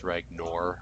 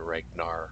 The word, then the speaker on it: Ragnor: targeting ragor I have to make sure I pronounce it right it's ragor o r rather than ragar which I've been corrected a few times even